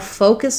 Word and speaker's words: focus: So for focus, what you want to focus on is making sure that you have a good O diphthong here in the first syllable. It's stressed, it's long, and it's the pure O, gliding O sound. And then for the second vowel, you really want to make sure that you're quite reduced.